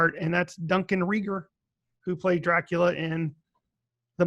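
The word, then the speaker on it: Regehr: you know Duncan Rieger I'm sorry it's Rieger it I had to listen to a french-canadian in her interview to get that pronunciation correctly because he is from Montreal but yeah it's Frank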